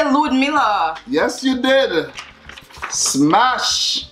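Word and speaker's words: Ludmilla: okay I didn't say Ludmila yes you did much how'd it lose that's how they pronounce it in Brazil lose me Antonia yes I'll get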